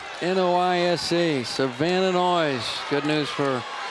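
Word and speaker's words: Noyes: Savannah noise n-o-y-e-s pronounced noisa Savannah noise good news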